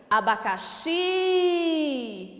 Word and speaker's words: abacaxi: Abacaxi. Se eu chamar essa palavra, olha como que fica. Abacaxi. Qual é a sílaba tônica? O xi. Então, ela também é uma palavra oxítona.